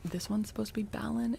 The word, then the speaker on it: Balin: So, B A L A N is Bon. B A L I N is Balon. It is.